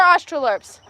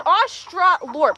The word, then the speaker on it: Australorp: Oh yeah, these are Australorps. Oh, fun. Yeah, I think the second way is how you spell it. It's Australorp, exactly how it sounds.